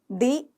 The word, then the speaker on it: the: क्या बोला है कि द का उच्चारण कब करोगे? जब अगला कॉन्सोनेंट होगा। अच्छा, जैसे कि द डॉक्टर। और द को दी कब उच्चारण करोगे, प्रोनाउंस करोगे? कैसे? जब अगला ही शब्द जो होगा वो वोवल साउंड होगा, जैसे कि दी एंड। समझे?